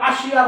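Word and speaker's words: Asia: का आपण बघू बघा ए एस आय ए आता हिंदीमध्ये याला एशिया म्हणतात हिंदीमध्ये याला काय म्हणतात एशिया पण मराठीमध्ये जर वाचायला गेलं तर याला आशिया म्हणतात आणि आपण आशिया खंडात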